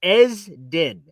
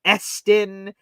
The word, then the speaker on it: Esden: But it's Esden. The S is a Z. Esden. That's how you're supposed to pronounce my name. Esden Jr. But I get Eston. I get Edison. People just start Edson.